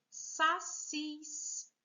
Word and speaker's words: sacis: A próxima palavra é sacis. Vejam, o cis aqui também, última sílaba mais forte.